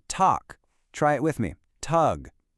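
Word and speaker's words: Tag: That g at the end is going to sound like a ca. So, we say talk.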